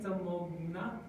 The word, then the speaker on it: Tamoghna: Hi, Tamogna.